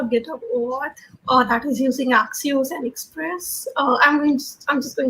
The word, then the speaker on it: Axios: Yeah, having not used this library before, I would have done like, let's try Axios, that's how you pronounce it, because then I'm just using the GitHub API without anything fancy on top.